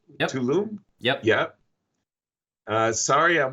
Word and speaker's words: Tulum: really good answers loved it have fun and tulum exactly you said it right pretty nice right tulum yup yup uh sorry i'll miss you on